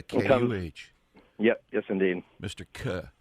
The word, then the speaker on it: Kuh: Yeah, it's pronounced like the letter. Okay. But it's spelled with a K-U-H.